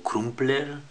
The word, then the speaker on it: Crumpler: plr camps eludió mariado crumpler y un poco así pronunciando lo cómo se escribe bueno este es una